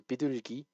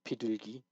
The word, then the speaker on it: 비둘기: So 비둘기, or 피둘기, it's not that tense.